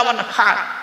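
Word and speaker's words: وانحر: এই গলার ভিতর থেকে হে এটা উচ্চারণ করবেন, হাই হুচি, হাই হাব্বাস নয়। ফাসাল্লি লিরাব্বিকা ওয়ানহার।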